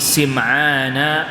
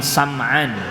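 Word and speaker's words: سمعان: was even isi main ini bisa dibaca juga dengan samaan jadi ada dua cara baca bisa dibaca and Nawas bin Siman dengan dibaca kasroh sinnya bisa dibaca Award bin sam'an dibaca facsimile kedua-duanya boleh hai hola berkata sahabatan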